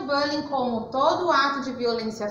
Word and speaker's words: bullying: Então, entendemos um pouquinho que é o estrangeirismo e que a pronúncia correta da palavra bullying é bullying, né?